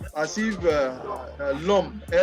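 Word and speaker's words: l'homme: man demand you say lum el apostrophe apostrophe h-o-w-m-e and it is pronounced as if uh lump is pronounced as if you are writing l-o-m that is a pronunciation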